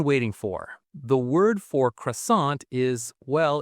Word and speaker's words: croissant: The word for croissant is well, it's croissant, but Claire is going to say it with that beautiful French nasal sound. Listen for the N that isn't really an N.